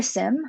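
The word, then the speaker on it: SIEM: you would use for sim um or seem people pronounce it differently in general you can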